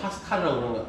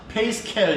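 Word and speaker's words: Pascal: 그리고 파스칼도 이쪽 계열이기 때문에 그냥 파스칼이라고 그러면 됩니다. 페이스켈 이런게 부르면 안 돼요.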